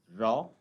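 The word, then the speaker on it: gnaw: तो इसी तरीके से और क्या शब्द हो सकते हैं, GRAW, इसमें जो है G साइलेंट होगा तो this will be रॉ, एंड GRU, so this will be pronounced as रू।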